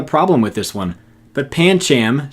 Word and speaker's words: Pancham: with this one but Pancham seemed like the correct way to pronounce this to me before I read my handbook and discovered that the last a is soft I don't like this